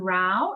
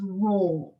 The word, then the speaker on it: raw: uh share the pronunciation so it's not Rao it's raw oh good yeah so